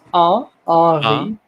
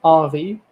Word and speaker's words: Henri: No, it's Henri. You don't pronounce the H. It's just Henri.